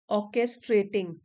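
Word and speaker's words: orchestrating: गया षड्यंत्र साजिश करना नेक्स्ट वर्ड है ऑर्केस्ट्रेटिंग आर साइलेंट है ऑर्केस्ट्रेटिंग सुनियोजित करना यह वर्ब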